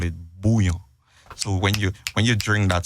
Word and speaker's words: Bouyon: It's spelled Bouyon. It's Bouillon.